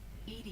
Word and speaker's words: EDI: airlock is ajar why are you named ed ed is the phonetic pronunciation of Ed I that is an acronym